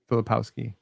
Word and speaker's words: Filipowski: Will you take Filipovsky at, I think I mispronounced 31? his name, at 31 year? Filipovsky? Filipowski, Kyle Yeah, Filipowski.